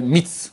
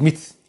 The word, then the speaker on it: Metz: Dans le monde des Chouettes, il appelle Mitz, parce qu'il s'écrit Metz, alors ils disent Mitz.